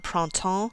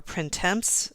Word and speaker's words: printemps: it written right here some people call it pron that's the more French pronunciation or printemps some people call it and all